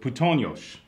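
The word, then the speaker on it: puttonyos: Then there's this other word, putonyos. Yes. Right. Is that how you say it?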